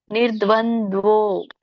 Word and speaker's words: ನಿರ್ದ್ವಂದ್ವೋ: ಒತ್ತು ಕೂಡ ಇದೆ ವತ್ತು ಹಾಗಾಗಿ ಮೊದಲು ರ ಹೇಳಬೇಕು ಅರ್ಕಾವಳಿ ಇರೋದ್ರಿಂದ ನಿರ್ದ್ವ ಆಮೇಲೆ ದ ಕ್ಕೆ ವತ್ತು ಹೇಳಬೇಕು ನಿರ್ದ್ವಂದ್ವೋ ನಿರ್ದ್ವಂದ್ವೋ ಸೋ ನ ಕ್ಕೆ